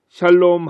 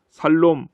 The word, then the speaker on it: 샬롬: 샬롬 하실 때의 발음을 잘 하셔야 됩니다. 잘못하면 살롬 하게 되는 것입니다.